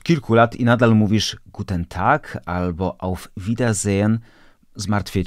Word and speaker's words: Guten Tag: które w języku niemieckim nie wymawiamy jako Guten tak tylko jako Guten tak Jaka jest różnica Zobacz Po pierwsze to e wypada w języku mówionym kreska pod n pionowa pokazuje że zjedliśmy ono zostało całkowicie zredukowane i należy mówić po drugie to a jest wymawiane długo ponieważ w języku niemieckim mamy samogłoski długie i krótkie i akurat tutaj mamy doczynienia z długim A czyli mówimy a g na